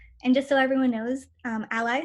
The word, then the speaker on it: a11y: And just so everyone knows, ally spelled with 2 1s is actually short for accessibility.